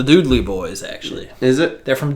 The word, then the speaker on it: Dudley: I always say Dudley Boys. It's the Doodley Boys, actually.